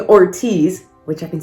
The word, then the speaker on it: Ortiz: what i said wrong i was saying ortiz instead of ortiz i don't think i